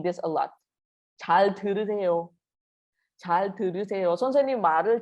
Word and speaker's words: 잘: Okay, one more time. 잘. Your tongue goes up. 잘 들으.